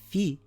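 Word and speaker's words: فِ: With a fatha, it is pronounced as fa. With a dhamma, it is fu. And with a kasra, it is fi.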